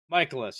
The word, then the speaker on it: Mikolas: Michaelis, yes.